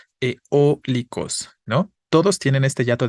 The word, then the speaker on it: eólicos: no va no efectivamente Cuál es la vocal que suena fuerte en eólicos es la o no Si yo le pongo